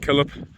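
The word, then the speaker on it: Killhope: Often these are pronounced like Stanhope, Killip.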